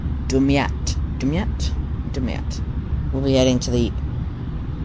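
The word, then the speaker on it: Damietta: We're heading to the left of that, to the right of Gemadra, I think it is. I think I butchered that. Let me find out what it's actually pronounced. Dumyat.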